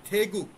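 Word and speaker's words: 태국: বেথুনাম এটা আছে এভাবেই, আপনারা এভাবেই উচ্চারণ করেন, বেথুনাম, বেথুনাম। থেগুক, থাইল্যান্ডকে ওরা বলে থেগুক।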